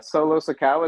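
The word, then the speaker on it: Solo Sikoa: and the younger brother of the usos uh solo sakawa is how you say his name uh yeah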